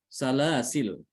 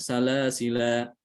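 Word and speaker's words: سلاسل: Itu boleh dengan dua cara. Pertama dengan menghilangkan alif, salasil. Salasil itu boleh. Dan yang kedua dengan menetapkan adanya alif, dibacanya salasila.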